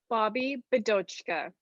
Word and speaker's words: Bobbi Bidochka: pronounce your whole name bobby bodochka it is phonetically correct just sound it out grade one style nice okay so what's